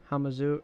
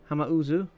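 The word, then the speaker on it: Hamauzu: final fantasy vii uh okay this is from hamizu hama hama uzu oh i've been saying his name wrong sorry um at the time i didn't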